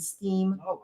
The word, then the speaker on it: STEAM: And beyond, who are interested in robotics and STEAM programs. That is not an error in pronunciation. Yes, in fact, we say STEAM because we've included A for the arts.